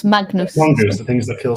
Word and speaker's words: Magnus: with my Norwegian that it's more like mangus than it is Magnus.